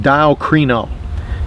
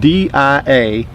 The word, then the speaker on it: diakrino: The word doubt in the Greek is a compound Greek word pronounced diakrino. It is spelled D-I-A-K-R-I-N-O, diakrino.